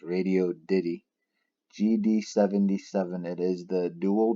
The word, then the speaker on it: Radioddity: I've been calling it Radioddity, but I guess I was wrong. It's Radioddity.